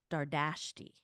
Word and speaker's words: Dardashti: Danielle was a news reporter, a TV news reporter, and she would pronounce it da um Dardashti, and I never pronounced it um I never pronounced it that way.